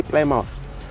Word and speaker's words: Plymouth: So 6 September, they arrived at Plymouth in England. Here we say Plymouth, but the British say Plymouth.